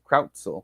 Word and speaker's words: Krautzel: Krautzel, I believe is the way he pronounces his name.